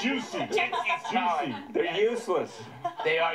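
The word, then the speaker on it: Jussie: And then along the way, they'd be like, oh, Jesse Smollett. Oh, no, that was wrong, too. Juicy. It's pronounced juicy.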